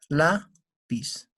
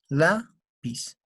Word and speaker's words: Lápiz: Lápiz. ¿Dónde tenemos la mayor fuerza de voz? en la sílaba la. Lápiz.